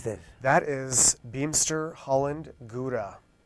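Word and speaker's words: Gouda: that is beamster Holland guda oh gud da that I know is the correct pronunciation okay well I'll remember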